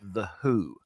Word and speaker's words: The Hu: them and Keith Moon it's not w-h-o it's a band called the h u it's pronounced The Who and they are a